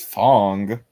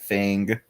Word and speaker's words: Fang: It's Fong. Well, I'm gonna keep pronouncing it Fang.